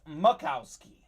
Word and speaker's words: Majkowski: that's how it's pronounced looks like majkowski but it is makowski congratulations don on your